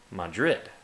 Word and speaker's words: Madrid: But usually in the Hispanic way, or Spanish, or Romantic languages, I mean, I know this mostly from Spain, it's usually on the second syllable. So, Madrid, or Sevilla, second syllable. Alright, since we're going to